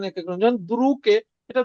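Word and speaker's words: друг: এটা দ্রুগ হবে না, কে উচ্চারণ হবে দ্রুক, দ্রুক।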